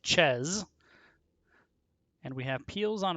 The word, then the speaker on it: Chez: chez house of chairs there was some debate among some casters on which is the correct way to say it and i vacillated but i confirmed with the team it is in fact house of chess and we have peels